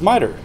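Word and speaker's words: MITRE: it's run by or Metra I don't know what the correct pronunciation is um merer okay it is merer um and cve should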